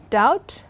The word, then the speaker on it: doubt: word so you should remember that doubt there's a be in there even though it's silent for foreign you can't